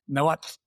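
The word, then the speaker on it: Nahuatl: pronounced it, which is Noat. And the the TL makes us sound like a bus coming to a stop.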